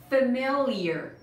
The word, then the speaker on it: familiar: Pay attention to the pronunciation of this word. به pronunciation این کلمه دقت کن. Family که دیدی این میشه familiar. Familiar. Lear. Familiar. Familiar. استرسش هم اوله. Familiar. Familiar نه. Familiar.